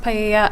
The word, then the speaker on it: paella: It's pronounced paella.